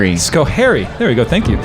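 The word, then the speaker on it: Schoharie: Sharie Valley, uh, Skohairy. Scohery.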